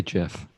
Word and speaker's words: gif: it or like a gif why'd you say jeff that's how you say it we're not doing this